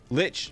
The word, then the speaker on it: Lich: type of pure magic Lich pronounced as witch but with an L ah okay thanks Stephen